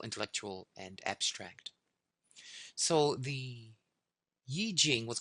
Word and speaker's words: I Ching: It's spelled like the letter I, and then Ching, Yi Jing.